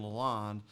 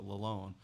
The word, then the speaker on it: Lalonde: I grew up saying Lalonde, and when I did that interview with her, she said they pronounce it Lalonde.